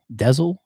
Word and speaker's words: Denzel: It says his name is actually pronounced Dezel, but because him and his father have the same name, his mother then said, "I'm just gonna call you Denzel."